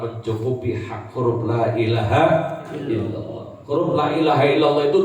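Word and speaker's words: إلا الله: Yang panjang-panjangkan, yang pendek-pendekkan. La panjang, ila panjang, ha pendek, illallah panjangkan, tafkhimkan, tebalkan. Jangan ilallah.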